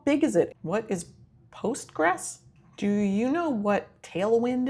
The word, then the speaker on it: Postgres: What is Postgress?